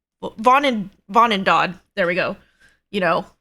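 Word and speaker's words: Vonindod: We need the Volendad. I think that's what it's called. Vonendad. There we go. You know, pronunciations.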